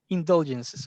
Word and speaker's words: indulgences: Indulgences. Indulgences. Okay, thank You you. have the stress on the second syllable.